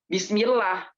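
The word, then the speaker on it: بسم الله: Nah, bismillah itu tipis, bukan tebal. Kalau bismillah itu jadinya tebal. Tapi orang-orang sana banyak tuh yang salah ucapnya. Bismillah.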